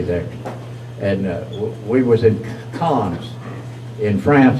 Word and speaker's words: Cannes: And we was in Cannes in France. We call it canes, but the French pronounce it con.